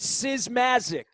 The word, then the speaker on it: Simasik: Pronounce it Simasik. Simasik.